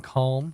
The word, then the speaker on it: calm: at the moment uh yes I pronounce the L in calm don't judge me uh